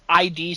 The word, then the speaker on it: id: it, and he says ID software. Nice. And I was like, I used to say that. Okay, and then I looked it up, and the actual pronunciation is id software. Yeah, it's id.